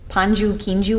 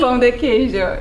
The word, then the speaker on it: Pão de queijo: And you made this great Brazilian cheesy bread, and wasn't it called like panju quinju or something? Can you say it correctly? Pão de queijo, Oh.